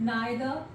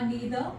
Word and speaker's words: neither: For example we have each, आइदर, इसको कई लोग ईदर भी कह देते हैं विच इज करेक्ट, नाइदर या नीदर, both are correct pronunciations, right?